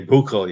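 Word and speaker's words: Büchel: it it is a hard one to say buul yeah buul okay and that's in Germany so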